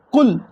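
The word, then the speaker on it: قُلْ: ஆரம்பிக்கலாம் வாங்கு எப்படி சொல்லும் குல் காப் உல் அப்படி சொல்லணும் தமிழ்ல படிச்சவங்க குல் அப்படின்னுவாங்க குல் தமிழ் அப்படிதான இருக்கும் அப்ப குல் இல்ல குல் அப்படி சொல்லுவாங்க அப்படி சொல்லக்கூடாது நல்லா தொண்டை அடி தொண்டையில் இருந்து உச்சரித்து குல் என்று சொல்லணும் அப்போ குல்பி குல்ரில்ல நம்ம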